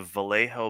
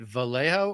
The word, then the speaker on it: Vallejo: Is it Vallejo or like pronounced Vjo? But it looks like Vallejo. I've always pronounced as Vallejo.